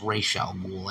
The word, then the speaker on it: Ra's al Ghul: my whole thing is the pronunciation of Ra's al Ghul is Ra's al Ghul. I mean, come on, man, respect for the source material.